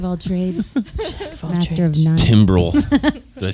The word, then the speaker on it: Timbrel: Timbrel.